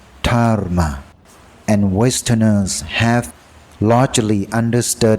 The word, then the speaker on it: Dharma: In some places, it's written in Sanskrit as Dharma, pronounced Dharma, and Westerners have largely understood its meaning without needing a translation.